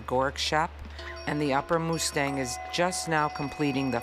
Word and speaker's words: Mustang: is generally referred to as the upper Mustang pronounced Mustang though no longer The Forbidden or lost kingdom the area has been opened to roughly 2 000 visitors a year since 1992.